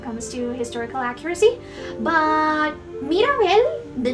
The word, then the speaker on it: Mirabel: Mirabel is the Mexican variation of a name. Here in Colombia we use Maribel, which has the first two vowels inverted. So for a long time, I actually struggled pronouncing Mirabel's name correctly because I always averaged out to the more common pronunciation.